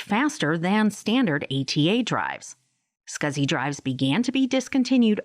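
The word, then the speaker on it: SCSI: least four SATA ports small computer system interface pronounced scuzzy hard drives join the storage Market in 1986.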